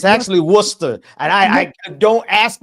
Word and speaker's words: Worcester: You know, it's actually Worcester. And I I don't ask me why it's pronounced like that. But yes, go ahead. Worster sauce.